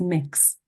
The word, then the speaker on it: Mx: um which is called MX and that is pronounced as mix very very simple um and again for